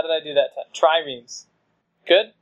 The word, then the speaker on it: triremes: Triremes. Good? It's a two-syllable word.